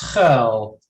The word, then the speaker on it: Schuil: welcome to Schuil. Is that correct? I won't. I won't hurt you by having to pronounce my name. It's Schuil.